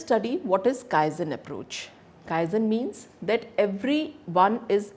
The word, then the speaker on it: Kaizen: what is Kaizen approach Kaizen means that every one is involved in making improvements it is pronounced as Kyle Zen is based on the